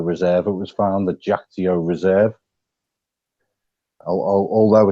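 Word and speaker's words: Kyaiktiyo: named after the reserve it was found the jao reserve although it's pronounced jao it's spelled very definitely it's k y a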